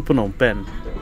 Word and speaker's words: Phnom Penh: CI 863 on Taipei to punong pen and yes that's the proper pronunciation for the Cambodian Capital this flight is operated